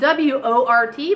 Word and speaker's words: wort: So it's spelled W-O-R-T, but you pronounce it wort.